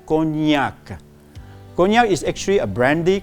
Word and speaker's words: cognac: I've heard people saying that as cognac. So it's not cognac, it's actually cognac.